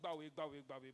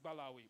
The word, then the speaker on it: Balawi: know revered them and called them balawi the dwelling of the prophets today we call it baby but the truth and the real pronunciation is balawi now aside these gifts